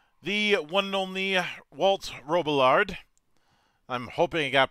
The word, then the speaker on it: Robillard: You're actually one of the few people who pronounces it the same way I do, although my dad used to pronounce it with the whole French thing going on, and everybody else seems to like it that way.